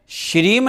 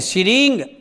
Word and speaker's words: श्रीं: इसमें श्रीम नहीं है, श्रींग अंग की बिंदी है।